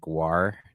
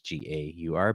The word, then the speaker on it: Gaur: It's not like Gwar, Gwar, it's Gaur, but I wonder if the author intended that on purpose.